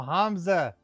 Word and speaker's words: Hamza: No, Hamza. The second H is implied. Different twist on the syllable.